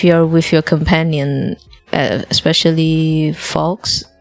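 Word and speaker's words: Fawkes: Uh when you're near the ending, uh if you're with your companion, especially Fox, Folks, uh I believe is how it's pronounced.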